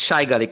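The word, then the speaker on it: Sajgalík: Who, by the way, it's Shaigalik. It's a Slovak name, and I'm sticking to that, even if he doesn't pronounce it.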